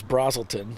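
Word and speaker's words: Braselton: I went to Bill to find out if it was a long A or a short A. Mm-hmm. It's not going to be the opposite of whatever he says. And of course, he said it was Brazelton, so I said, man,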